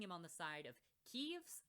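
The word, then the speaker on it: Keves: He's also wearing black, putting him on the side of Keeves, I believe is how it's pronounced, the country which uses mechanical-based weapons like mechs.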